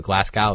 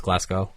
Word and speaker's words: Glasgow: it's like what Glasgow I call the Glasgow it's glasow like the W is apparently silent they just don't use